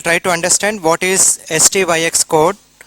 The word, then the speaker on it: STYX: So in this class we'll try to understand what is STYX code. It should be called as STYX, but just for pronunciation purpose we call it as Styx code.